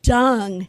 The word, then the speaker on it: Dung: He was quick to point out I was mispronouncing my possible relative's name. It's Dung, he corrected me.